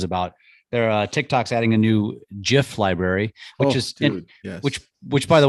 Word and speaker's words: GIF: come out and said, no, it's GIF. It should be a hard G, not a soft G.